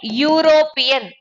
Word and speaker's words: European: A European.